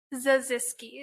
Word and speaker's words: Zaziski: Um Zaziski, is that how you say your name? Yes, it is.